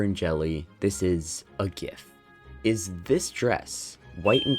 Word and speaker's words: GIF: on the internet enjoy is it pronounced GIF or GIF and it says it right there in the icons there's the peanut butter and then there's the GIF logo it has to be GIF this ain't no peanut